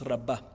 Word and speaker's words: רבה: en la ra raba Sí con he es rabba Okay Cuál es la